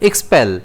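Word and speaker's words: expel: इसे हम प्रोनाउंस करेंगे एक्सपेल, जिसमें स्ट्रेस जो है वो एस पर रहता है।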